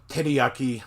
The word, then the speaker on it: teriyaki: Or teriyaki, they'll say teriyaki.